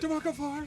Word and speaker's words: DeMarco Farr: Yes, that's how I like my name pronounced. What's like that. Like Crowd Chris said it. DeMarco Farr.